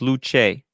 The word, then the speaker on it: Luce: Luce, pronounced Luce.